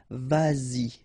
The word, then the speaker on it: vas-y: Same thing here, vas-y, vas-y, all right?